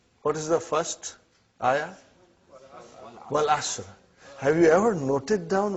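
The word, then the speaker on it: والعصرِ: Wal Asr. Have you ever noted down what is written there? It's called Wal Asri.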